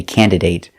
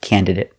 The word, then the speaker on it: candidate: I've heard Americans say candidate, but it doesn't sound right and it doesn't follow the rule, so pronounce it candidate. It sounds better.